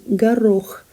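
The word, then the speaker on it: горох: but it's pronounced as garroch the stress falls on the second syllable and now the word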